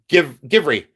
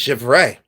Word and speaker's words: Givre: And then people say Givry, Givry. And then they say it real quick because they don't know how to pronounce it. So they go, Givry. It's Givry. It's Givry glass. No, it's not. It's Givray. I believe it's Givray.